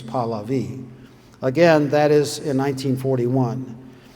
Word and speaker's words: Pahlavi: Now, you may hear people in the West pronounce it Pahlavi, but I heard it himself say, and his name was Pahlavi.